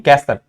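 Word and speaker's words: castle: हैं इसमें आते हैं अगर कभी एसटी एल आता है तो वहां पर भी टी साइलेंट होता है जैसे की कैसल हसल यहां पर भीटी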